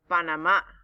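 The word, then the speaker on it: Panamá: 2023 we are going to drum roll please panama or panama if you want to say it correctly let's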